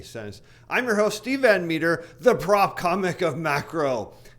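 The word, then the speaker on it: Metre: in the description below it's pronounced meter but you'd never spell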